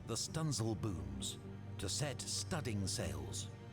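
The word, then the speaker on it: studding sails: even run out the stunsel Booms to set studding sales pronounced stencils this was known as sailing large it was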